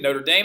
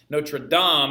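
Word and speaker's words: Notre-Dame: and I know some are like Notre Dame Notre Dame is a university that we mispronounce no true DOM is the Cathedral in Paris all right which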